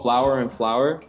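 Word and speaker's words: Flower and Flour: It's called Flower and Flower. Check them out. So it's spelled flower, Flower, and then flour, like baking flour.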